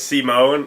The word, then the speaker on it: Simon: oh yeah now remember the character's name is Simone but it's not spelled like that it's spelled like Simon so it kind of threw me off Simon yeah and then